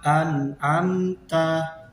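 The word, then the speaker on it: أنعمت: Selanjutnya adalah an'amta. Nah, jadi di situ ada nun sukun bertemu dengan huruf ain, maka cara membacanya jelas. An'amta, an'amta. Jadi itu cara membaca idhar, tidak boleh berdengung, tetapi harus dengan bacaan yang jelas seperti an'amta.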